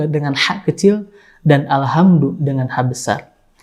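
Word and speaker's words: الحمد: yang mirip, yaitu kata Alhamdu dengan ha kecil dan Alhamdu dengan ha besar. Ketika kita salah membacanya dengan suara ha besar Alhamdu, bukan Alhamdu, maka ini beda arti atau makna.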